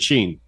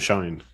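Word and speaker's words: Shein: imports on timu and Sheen or shine depending on who you ask for the pronunciation but yes they are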